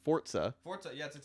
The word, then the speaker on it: Forza: well which I just found out is actually pronounced Forza it's an Italian yeah it's it's a yeah